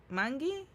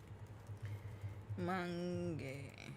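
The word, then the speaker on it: Mangue: Obiang Mangi? Oh, Lord, I said his name wrong. My bad. Mange.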